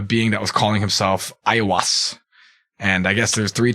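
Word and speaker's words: Aiwass: claimed by a being that was calling himself ayawas and i guess there's three chapters that are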